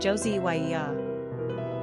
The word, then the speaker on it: Josiah: Quick facts on Josiah Gender, boy Origin, Hebrew Number of syllables, 3 Ranking popularity, 69 Pronunciation, Josie-y-ee-ah Simple meaning, healed by God, supported by God